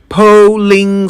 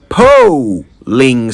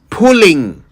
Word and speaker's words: polling: Polling station. Polling station. P-O-L-L-I-N-G. Polling station. Not pulling station. It's an O, not a U.